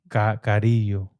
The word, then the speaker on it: Carrillo: Carrillo. Yeah, you got to roll the R's though. Carrillo. And then in English, Carrillo Racing.